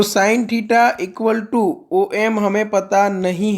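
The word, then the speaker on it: tau: Greek letter है टाओ करके, इसको आप प्रोनाउंस कैसे करोगे, टाओ, ठीक है।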